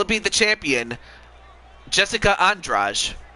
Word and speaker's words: Andrade: be the champion jessica andraj i know it's it's spelled andrade but it's entourage actually how you pronounce it or will it